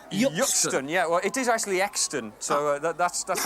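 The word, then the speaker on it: Euxton: i'd pronounce that yeah well it is actually extant so that's that's how you pronounce that what about sandler's breathing sammelsbury oh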